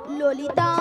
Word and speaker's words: ললিতা: ললিতা মাসি কি ওটা লালাই লালাইও নয় আর ললয় ললয়ও নয় তাহলে বলো ললিতা ললিতা লো লো লো লো লো বলো ললিতা ভালো করে উচ্চারণ করো থাম না নিয়া পুরি